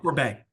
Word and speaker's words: Corbet: I think it's pretty safe to put Brady Corbett, how do you say it? Corbet.